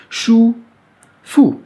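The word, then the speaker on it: 舒服: choux ne me de shu fu f u avec un f comme en france est un hub qui se prononcera comme ou comme kaka précédent ou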